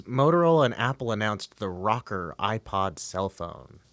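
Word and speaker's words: ROKR: Um this was Motorola and Apple announced the rocker iPod cell phone. R O K R Rocker. I'm guessing that's how you pronounce it as rocker.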